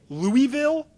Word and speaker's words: Louisville: Um, we have a little rapidfire Louisville Cardinal edition.